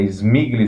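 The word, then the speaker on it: Śmigły: Desculpem o sotaque aí, eu não sei se eu estou falando polonês muito bem, mas é Smigli, se escreve S-M-I-G-L-Y.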